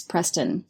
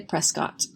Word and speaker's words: Prescott: I erroneously pronounce Dylan's last name as Preston. It's actually Prescott.